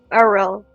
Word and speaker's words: Arel: with this uh like R like an like the weird R ARL ARL ARL oh yes sure so